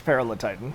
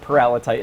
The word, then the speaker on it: Paralititan: And so you name it's Peril of Titan. Yeah. Well, we pronounce it Paralititan.